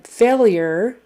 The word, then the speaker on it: failure: And then failure is like F long A-L-Y-E-R. Failure. It's not spelled that way, but that's kind of the phonetic spelling there.